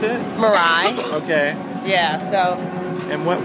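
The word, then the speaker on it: Mirai: area so how do you how do you pronounce it marai okay yeah so and what will the uh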